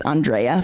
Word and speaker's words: Andrea: say this but if you're wondering how to pronounce my name it's Andrea FEA so it's a good way to remember